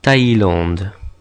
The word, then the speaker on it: Thaïlande: And the umlaut does the same as it does on the E, tells us pronounce this letter separately from the vowel before it, like in Thaïlande.